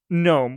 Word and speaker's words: GNOME: defaults with is called GNOME, or I've heard it called GNOME. I know it should just be GNOME, because that's the G is silent in this word, but I also find it funny to just call it GNOME.